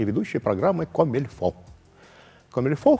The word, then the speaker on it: comme il faut: и ведущий программы комильфо комильфо французское слово только пишется comme il faut переводится как так как